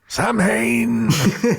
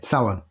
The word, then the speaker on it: Samhain: But it's not pronounced how Donald Pleasance pronounces it in Halloween. That's all I'll say. Samhain! Yeah, Samhain.